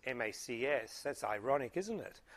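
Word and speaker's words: MCAS: Boeing thinking that they can launch the MAX with its MAX, with its MACS. That's ironic, isn't it? MAX and MACS is pronounced MAX as well, the MAX with the MAX system.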